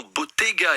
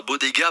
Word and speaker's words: Bottega: Alors que je prononce bien, parce que c'est italien, le nom Bottega et non pas Bodega, Bottega à Fourras, parce